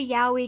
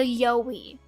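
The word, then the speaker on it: Yowie: I guess I can't call it the Yahi cuz you're going to laugh at me and yell at me. Fine. The Yoi if you're too afraid to pronounce it the other way. This is a real thing. The Yoi. The Yoi. Yeah, I pronounce it the Yahi, but I'm also bad at pronouncing things. It's too late. It's not too late. It's the Yoi.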